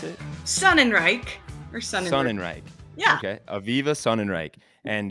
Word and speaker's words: Sonenreich: Is that how you correctly pronounce it? Sonenreich or Sonenreich. Sonenreich.